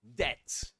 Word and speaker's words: debt: Well, to cut a long story short, this is debt. Debt. You don't pronounce the B. The B is silent. You ignore it. You say debt.